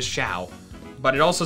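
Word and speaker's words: Mienshao: Mean Foo and Mean Show. Mean Shao, not the most phonetically best pronunciation stuff, because I'm pretty sure it's not show, it is Shao.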